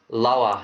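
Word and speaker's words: Löhe: clarify because you're saying layer but that's um l h e that's l o e or l o uml h e yeah so we um yeah laa is how they pronounce it in Australia I just what's interesting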